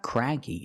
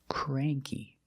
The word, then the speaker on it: cranky: It's not cranky. It's cray. Cranky.